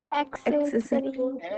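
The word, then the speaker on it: accessory: ई आ रहा है, तो प्रोनाउंसिएशन क्या होगा? एक्सेसरी।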